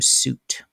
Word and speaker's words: suite: It was called a bedroom suite. Bedroom suite? Yeah. But it was spelled S-U-I-T-E, a suite. But pronounced suit?